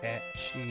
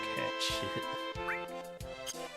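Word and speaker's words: Cait Sith: I like the debates over whether the Scottish origin is pronounced catchy or cat shit.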